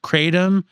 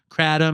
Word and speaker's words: kratom: like other big Publications I've heard many people say crom or katum and sometimes too it's said that in parts of Southeast Asia the hard R isn't pronounced it's more like a catam but I don't know